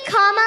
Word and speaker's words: Kamala: do you pronounce it first you say comma like a comma in a sentence then you say la like la la la la la put it